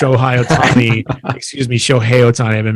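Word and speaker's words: Shohei Ohtani: phil nevin push ohio tell me excuse me show hey otani i've been mispronouncing that like they're not gonna let him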